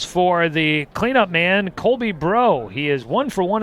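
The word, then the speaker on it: Breaux: to an o2 count now for bro bro not spelled like what's up bro but spelled like you're in new orleans b-r-e-a-u-x for the last name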